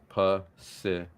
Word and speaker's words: Pacific: You do realize that in that the Pacific Ocean, those two words, every C is pronounced differently. Okay. Pacific.